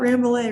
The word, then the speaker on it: Rambouillet: i can't pronounce that use a crossed with ramboulay and suffolk rams welcome to the show georgia thank you thanks for having me and you got it you got ramble a right there on the side all right um